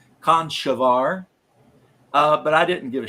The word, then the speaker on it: Conchobar: wrong, and I know it's supposed to be pronounced Conchobar, but I didn't give a shit.